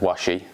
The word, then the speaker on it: Washi: been kind enough to tell me that it's pronounced washi so film washi s um and with a